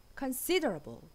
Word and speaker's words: considerable: Considerable. 둘 다 이음절의 강세가 있어요. Considerable.